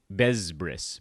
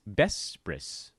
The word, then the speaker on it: Bespris: A lot of people pronounce it Bezbris, but it's Bespris. Soft sounds. Just like my personality.